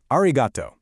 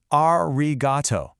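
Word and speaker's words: ありがとう: First up, another word you totally know, arigato. This is the standard, more casual way to say thank you, you know, to friends or people you're close with. Let's say it. Arigato.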